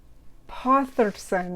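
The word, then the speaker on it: Þórðarson: And he brought in his childhood friend, Oscar Potherson, I think it is. It's got a kind of D-shaped symbol, but I think it's pronounced a TH and it's not a D.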